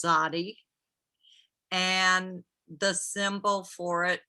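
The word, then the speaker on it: tzaddi: it's spelled t z z d i and pronounced zodi and the symbol for it is a fish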